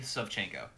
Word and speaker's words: Savchenko: as i've been alive so it's a it's pronounced reg already yeah all right subchanco all right chenko got it yeah okay perfect